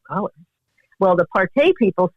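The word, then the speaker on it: parti: And yes, they're poodles, and they're called Partey. And that's how the French say it, but Americans say party.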